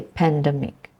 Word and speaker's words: pandemic: So pandemic, again, the stress is in the first syllable. Well, I've heard pandemic or pandemic, which is a change of sound altogether. I've heard people say pandemic.